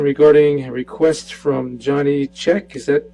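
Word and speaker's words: Chek: All right, my name is Johnny Check. It's spelled C-H-E-K.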